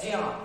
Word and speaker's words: ज्या: बहुत से लोग इसको ज्ञा पढ़ते हैं ना, ज्ञा से ज्ञानी, ये प्रोनाउंसिएशन गलत है। इसका सही उच्चारण क्या होता है, ज्या, क्योंकि आधा जा और या मिलकर के बना है इसलिए इसे ज्या पढ़ा जाता है।